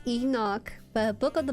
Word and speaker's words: Enoch: It's pronounced Enoch, but a book of the Bible omitted from